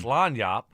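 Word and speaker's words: lagniappe: They know they know how it's pronounced. They know what it they know what it means, right? It's lanyap.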